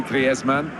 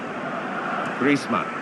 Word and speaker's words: Griezmann: Said he talks to his dog in Spanish and dreams in Spanish, so I think we can pronounce his name the Spanish way. Griezmann. Griezmann.